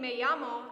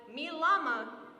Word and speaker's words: me llamo: gym credit, and when pronouncing me llamo as mi llama still earned full points.